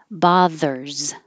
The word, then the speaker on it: bothers: mean voicing don't bother bothers the S is really a z let me know if